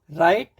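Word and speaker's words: write: Wrong, राइट, rap, wrapper, रिंकल, रिस्ट, सभी में देखिए डब्ल्यू आर, लेकिन wrong, राइट, rap, wrapper, रिंकल, रिस्ट, ऐसे हम इसको बोलते हैं, कभी भी डब्ल्यू का प्रोनाउंसिएशन नहीं देते हैं।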